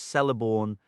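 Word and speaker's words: Celeborn: The vowel e at the end of words is always a clear distinct sound marked with a diaresis as e when necessary and is also consistently pronounced in the middle of words such as celiborn and manag.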